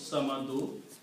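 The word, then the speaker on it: صمد: The word is Samadu, so if you continue, you have to pronounce Samadu. If you stop at this ayat, you will say Samadu. Allahu Samad, because you do not pronounce the harkat of the last letter.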